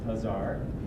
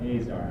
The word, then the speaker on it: Azar: of the way first it's pronounced hazar not Azar I will hunt down